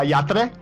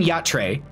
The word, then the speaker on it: Yatra: moments where yeah is how do you say their name properly uh yatra okay so i was saying yacht tray just because i'm a white boy but no i mean